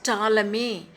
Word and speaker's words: Ptolemy: Ptolemy, how to pronounce? Ptolemy, underline, built on Hippocrates' ideas and later developed a model of motion of the planets and stars.